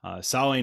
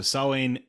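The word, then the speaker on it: Samhain: uh the holiday salon saline is not spelled the way it sounds it is spelled s-a-m-h-a-i-n even though it is said not like that at all so sawing uh it would be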